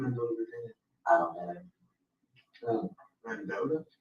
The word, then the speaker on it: Mendota: Mendota, how do you say? Yeah. Is that how you say something? That's right. Mendota, M-E-N-D-O-T-A, Virginia.